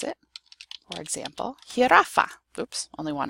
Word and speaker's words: jirafa: The J is pronounced like a H.